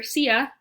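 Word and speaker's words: silla: till a CF and remember SIA that is the word for chair Double L mix Y sound so the chairlift tell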